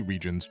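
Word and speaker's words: Rijon: a new story and set in a new region called Region. And yes, that is the correct pronunciation according to its creator, Cool Boy Man.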